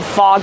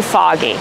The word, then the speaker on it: fog: it all OG fog we make the sound awe like in call and ball and audio audience also we have the